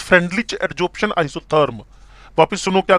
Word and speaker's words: Freundlich: Name है FRENEU, FREUNDLICH, इट is pronunciate as फ्रेंडलिच adsorption isotherm.